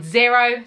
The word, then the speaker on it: Xero: Then I submit it and it goes to my accounting software called Xero, spelt with an X, X-E-R-O.